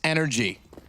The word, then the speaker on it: NRG: six to nothing for NRG yeah which is actually pronounced energy is it right the drink yes it is thanks we